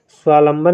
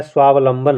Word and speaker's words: स्वावलंबन: स्वालंबन स्वालंबन में देखिए बहुत लोग गलत उच्चारण करते हैं और इसी वजह से परीक्षा में कंफ्यूज भी होते हैं स्वालंबन नहीं होता है स्वावलंबन होता है स्वावलंबन होता है शुद्ध